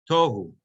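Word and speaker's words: תֹהוּ: the word over there, but the accent is actually goes on the first syllable, on the taf, tohu.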